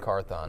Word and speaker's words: Carthon: How do I pronounce it? Rand Carthon. Rand Carthon.